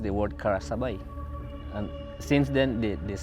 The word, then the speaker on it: Karasabai: district commissioner in those days in early 60s pronounced the word kara sabai and since then the this spelling left like